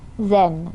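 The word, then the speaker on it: Xen: Zen, that's her name. I think the X is pronounced Z.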